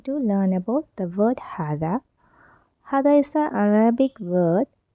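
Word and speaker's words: هذا: shall we learn about the pronunciation okay is pronounced had but it is written without the first al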